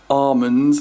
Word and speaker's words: almonds: I had apricot tarty thing and with almonds in it, or almonds, as apparently it's pronounced according to Pasta, and Pasta had ganache.